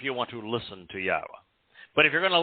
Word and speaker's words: Yahowah: The Y in Yahowah is pronounced exactly as we would pronounce the vowel consonant Y in English, like in the word yes.